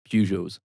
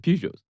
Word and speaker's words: Peugeot: like, just reading just like humorous reviews of, Peugeots. No, and right, stuff. What? yeah. Excuse me? Of humorous reviews of Peugeots.